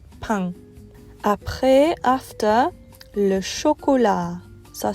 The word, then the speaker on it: pain: The next word is spelled like the word pain in English, but it's pain.